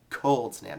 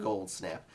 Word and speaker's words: Cold Snap: I kept on saying that so it's actually pronounced cold snap not gold snap but I really do like the name of